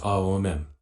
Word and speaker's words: Aum: Om is a monosyllabic word compared to Aum, which is trisyllabic. We simply spelled it, unlike Aum, which is pronounced Aom. In Sanskrit, O is a diphthong formed by combining the sounds A and U.